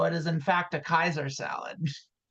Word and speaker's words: Caesar: In Roman, in Latin, in Rome, they did not pronounce soft C's. It was always a hard C.